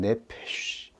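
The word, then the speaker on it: נֶפֶשׁ: 그리고 생령 즉 영혼이라고 하는이 의미는 네페쉬 SH 발음입니다. 바람 소리인 것이죠.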